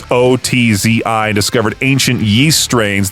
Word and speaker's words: Ötzi: It's Otzi, and discovered ancient yeast strains that could actually be cultivated.